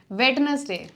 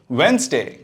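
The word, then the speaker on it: Wednesday: को सेव कर लेना restaurant restaurant receipt receipt वेडनेसडे वेनसडे coupon coupon genre genre daybreak डब्री iron iron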